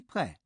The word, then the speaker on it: prêt: For I am ready, I would say je suis prêt. You won't have heard the silent T ending.